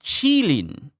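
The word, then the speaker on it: qilin: So the the kadine pronounced chilin cheating. Chilein. Wow. You would think I would realize that the ch Chinese name of it with q n i would be chi.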